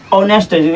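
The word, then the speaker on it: honest: तो साउंड क्या आ रहा है, ऑनेस्ट, ओ से आ रहा है ऑनेस्ट, नहीं कि इसमें स्वर वर्ण आ रहा है।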